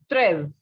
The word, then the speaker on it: treize: Next one is 13, which is treize. Very easy pronunciations, very easy to learn and understand both.